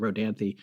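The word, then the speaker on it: Rodanthe: r o d n t h but we pronounce it rhany those houses are like you can go online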